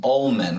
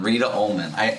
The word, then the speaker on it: Ollmann: And how do you say your last name? Ollmann. Reta Ollmann. That's how I pronounced it.